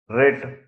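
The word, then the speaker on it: writ: करना variation of rack रेंगल झगड़ना रेंगल झगड़ना रिट कानूनी आदेश रिट कानूनी आदेश रो क्रोधित रो क्रोधित साइलेंट एक्सवर्ड फ नकली या फिर बनावटी फ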